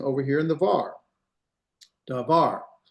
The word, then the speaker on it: davar: Davar. It's not dvar, it's dvar. It's not dvar, it's dvar. Can you hear the slight difference? You're gonna put the accent at the end of the last syllable.